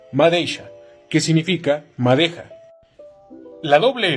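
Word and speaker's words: madeixa: La X se pronuncia como una sh, como por ejemplo la palabra madeisha, que significa madeja.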